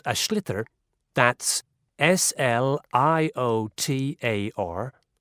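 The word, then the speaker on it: sliotar: basically you have to get this ball called ash litter that's SL IOT a or so it's not spelt the way it's pronounced u his ears into the net for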